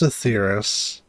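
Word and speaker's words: Etheirys: As of now, our mighty moon has a new purpose: to bear the people of Aetheris To safety! Okay, so it's pronounced Aetheris.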